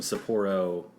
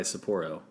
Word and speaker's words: Sapporo: episode is sponsored by Sapporo Sapir Oh Sapporo I'm almost certain it's Sapporo Sapporo send us money and